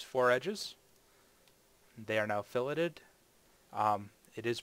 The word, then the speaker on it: fillet: They are now filleted. It is pronounced fillet.